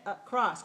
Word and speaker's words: across: and weak all right so when we say across can you hear is very very short very short not long very short and it's not high it's not that cross it's a cross it's low it's very weak all right so a